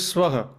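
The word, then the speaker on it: स्वाहा: The original word is Swaha. Swaha. Yeah. Swaha. And what you hear from the Western renditions is Swaha. Swaha, yes. Swaha is a completely different sound and a meaning and a process.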